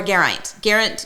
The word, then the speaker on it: Garant: Garant, right? Yeah. Garant. Okay, Garant. So Garant. Or Geraint. Geraint. Either way.